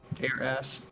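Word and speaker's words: Aeras: Using its power, it sealed the 2 dragons beneath Aras, the massive tree at the center of Tsunami. Aras is spelled A-E-R-A-S. Air ass.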